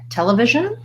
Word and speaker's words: television: to our syllable stress we have first syllable stress so I'm gonna put my apostrophe or my stress diacritic before the first syllable tell tell tell uh I think it's a schwa well done so many